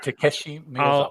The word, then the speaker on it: Takeshi Miyazawa: And this is created by Greg Pak and Tashiki Mizukawa. Thank you. Takeshi Miyazawa.